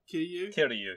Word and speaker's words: Kiryu: I'm terrible pronouncing names. Give it a go. Is it Kiryu or something? Kiryu, yes, Kiryu.